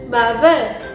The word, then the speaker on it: 밥을: Perlu diperhatiin juga, bacanya harus digabung ya, babel. Jadi bukan mentang-mentang bab ditambah el, jadi babel, babel 먹어요. Bukan, salah, yang benar babel, babel. Jadi membaur sama kata sebelumnya.